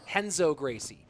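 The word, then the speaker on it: Renzo Gracie: All the R names, Hixon Gracie, Henzo Gracie, Hoist Gracie, all that start with an R pronounced with the H sound.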